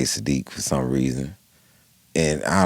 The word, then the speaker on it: Siddiq: My name is Siddiq. His name is Saadiq. Right. It's actually pronounced different.